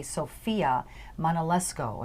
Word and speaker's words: Sofia Manolesco: And we have with us today Sofia Manolesco, if I pronounced that right.